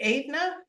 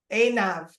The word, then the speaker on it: Einav: I have another amazing woman here with us today, and it's, how do you say it, Aidna? Einav.